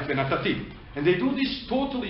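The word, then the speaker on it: וְנָתַתִּי: Because the accent is not on Natati, the accent is on Ti, the end, right? Venatati.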